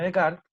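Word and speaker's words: Descartes: que hay lobos entre paréntesis y cómo se pronuncia de un filósofo francés se llama rené de kart es creador también en el plano cartesiano en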